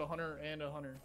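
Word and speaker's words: Hunter x Hunter: going to lose hunter you're not supposed to pronounce the x oh okay well i was literally just talking about a hunter and a hunter so i called it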